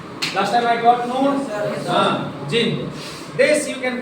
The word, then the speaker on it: jinn: Jinn. This you can pronounce JINN, Jinn.